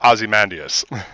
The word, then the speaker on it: Ozymandias: I believe it is correctly pronounced Ozymandias.